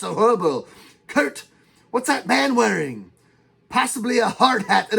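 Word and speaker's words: Manwaring: spelled no I mean I mean it's it's pronounced man wearing a member of them too Kirkman wearing uh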